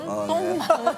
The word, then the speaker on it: Tom: Oh, Tong... Not "Tong"! Tom! Tong Mang...